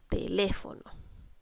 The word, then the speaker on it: teléfono: La palabra teléfono debemos identificar, primero que todo, dónde estamos cargando la voz. En este caso estamos cargando la voz en la antepenúltima sílaba. Por lo tanto, vamos a identificar inmediatamente que es una palabra esdrújula. Muy bien.